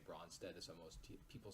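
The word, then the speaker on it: Brønsted: with the line and it's Norwegian letter it's when you pronounce it's kind of like between an O and an ESO bronsted-lowry but I just say bronsted is all most people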